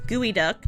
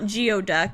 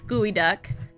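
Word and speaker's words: geoduck: wondering what gooey duck is yes it is pronounced gooey duck not not not geod duck it's gooey duck um you're probably wondering what that is um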